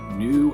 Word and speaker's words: gnu: my brand new book new and true that's spelled gnu like a wildebeest new and true illustrated